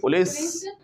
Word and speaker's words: police: ऐसे पूछें कैसे, क्या पुलिस ने पकड़ लिया? डिड पुलिस catch you? वैसे ना एग्जैक्ट इसकी प्रोनाउंसिएशन होती है, that is नॉट पुलिस, इट्स पुलिस।